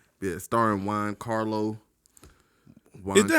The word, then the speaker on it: Giancarlo: Yeah, starring Giancarlo. Is that how you pronounce his name?